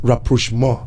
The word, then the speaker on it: rapprochement: It's a French word. Okay. It is pronounced rapprochement.